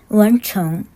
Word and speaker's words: 文城: 얼른 소개해드릴게요 먼저 제목입니다 은총은 문성을 중국어 발음으로 읽은 거예요 원총 이라고 읽습니다 은총은 그 어디에도 없는